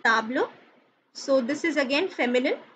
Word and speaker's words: table: is table in french it is written as same in english but it is pronounced as table so this is again